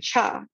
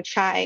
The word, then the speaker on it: chai: indian tea you know it's in cha you know chai as americans say and the only thing